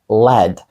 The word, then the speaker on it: lead: це таке також leд ні це LED і LED означає свинець також вимовляється по-іншому і значення повністю інше класне